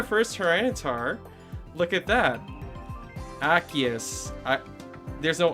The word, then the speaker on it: Arceus: Osiris? Who's saying Osiris? Osiris? Arceus. Is it Arceus? Okay, I'll try to pronounce it that way then. Arceus.